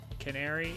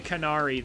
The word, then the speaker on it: Canari: Oh, also that streamer, it's definitely not pronounced Canary. I So, it's probably Canari then like I wondered.